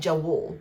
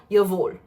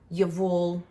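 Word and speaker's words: Jawoll: It looks like Jawul, but that's wrong. That's not how you pronounce it. I think it's called Yavul.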